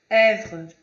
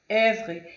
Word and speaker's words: œuvre: E para finalizar, nosso último slide aqui, a letra O e E é um som aberto, como se fosse E. Como na palavra œuvre, œuvre.